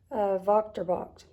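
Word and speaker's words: Wächtersbach: Now, it starts with a W, but I'm pretty sure you pronounce that Vochterbach.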